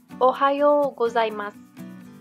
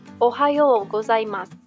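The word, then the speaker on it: おはようございます: kita mulai dari sini Ohayo gozaimasu ohayou gozaimasu artinya selamat pagi ingat ya kalau kalian nemu huruf oishii tanda seperti ini dibaca agak panjang ucapannya kemudian huruf pun disini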